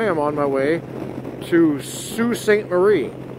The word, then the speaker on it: Sault Ste. Marie: I am on my way to Sault Ste. Marie. Or as the French would pronounce it, Sault Ste. Marie.